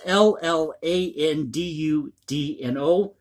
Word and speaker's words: Llandudno: And forgive my pronunciation here, it's L-L-A-N-D-U-D-N-O.